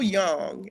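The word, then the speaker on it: Jung: Carl Young and it's spelled Jun N.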